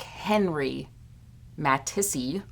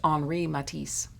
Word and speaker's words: Henri Matisse: by an artist named anri matisse when it's written out it looks like henry matissi but it's pronounced henri matisse so he was born